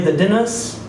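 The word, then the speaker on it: The Dynasts: poems uh verse play the dinners he pronounced it that way by the way and many letters he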